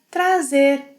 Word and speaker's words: traz: Now we have trazer, to bring. Eu trago, trago. Você, ele, ela, a gente traz with a s sound. Traz, traz. Vocês, eles, elas trazem with a z sound.